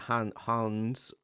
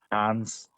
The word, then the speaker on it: Hans: So because of that, Hans. I'm trying to say it like Hands. it's not Just Hans, it's hand. Hans. Hands. It depends where you come from.